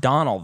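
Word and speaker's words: Domhnall: dumbled it's not Donald that's a name it's pronounced Donald though how do you are you sure I've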